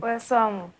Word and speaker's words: Wesoamo: Okay, how do you pronounce the middle name? Wesoamo. Wesoamo.